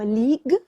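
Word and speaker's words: League: لاثه ليج اوف ليجندز في كلمه ليج الجي يو اي اللي في الاخر مش بتتنطق فهي بتتقال كان الجي هو اخر حرف فيها فنطقها السليم هو ليج مش ليجو فهي ليج اوف ليجندز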